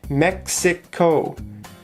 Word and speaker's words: Mexico: Okay, Mexico has 3 syllables. Mexico. The stress is on the first syllable.